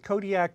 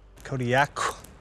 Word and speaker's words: Kodiaq: In the Aleutic language, the Qs are more come from like your throat than a normal K does. How would we pronounce it then? Kodiaq. Kodiaq.